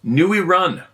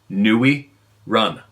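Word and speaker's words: người rừng: Vietnam Vietnamese out good luck n rung is pronounced NE run of course it is I knew it Nee run it translates Forest man jungl man the terms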